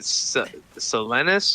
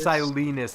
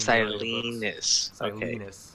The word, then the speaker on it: Silenus: this chapter um so uh martin is it celenus or is it silence silence is how it's pronounced silence it's really funny that like i used to